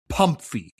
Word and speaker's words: PMMFI: Have you ever heard of the term Pum-Fee, which is an acronym, PMMFI, but pronounced Pum-Fee?